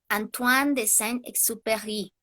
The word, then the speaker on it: Antoine de Saint-Exupéry: Disculpen si no lo pronuncio correctamente el nombre del autor, eh, Antoine de Saint-Exupéry o algo por el estilo.